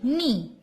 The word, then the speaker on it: knee: So, here we write K-N double E, knee. Can you tell me that which letter is silent here? Yes, K. So here circle. Knee. So K is silent letter.